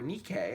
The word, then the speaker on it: Nike: me the temple of athena nike or nikkei as they pronounce it another athena another athena